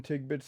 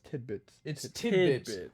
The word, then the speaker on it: tidbits: i've only i've seen tig bits of like all of them tick bits tig bits yeah isn't that how you say it yeah that is how you say it or no it's tidbits we're about to [